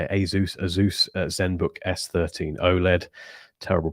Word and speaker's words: Asus: was about um the I always get the name wrong azus I think I think you say Asus Asus Zenbook s13 OLED